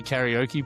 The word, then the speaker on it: karaoke: know that I say karaoke bar because I pronounce it like an English person. Well, okay. So, if it was in Japanese, you should say kada or bar and I say karaoke bar.